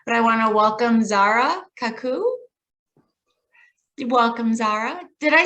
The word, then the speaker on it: Zahra Khakoo: who wouldn't be, but I want to welcome Zahra Khakoo. Welcome, Zahra. Did I say your name correctly if I mispronounced it? No, you said it perfectly. Zahra Khakoo.